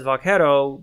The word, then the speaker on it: vaquero: really vaquero you know it's pronounced as vaquero god eventually got corrupted and anglicized as buckaroo so like vaquero vaccaro vacuum so you know 200